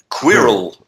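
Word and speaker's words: Qwilr: and the other one it's almost impossible to pronounce which is Quirrell okay how do you spell this I will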